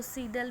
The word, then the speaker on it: Seidel: आज जो हम करने जा रहे हैं सिस्टम ऑफ लीनियर इक्वेशंस को, वो गॉस साइडल मेथड से, या इसको सीडल भी बोलते हैं, प्रोनाउंस करते हैं सीडल मेथड।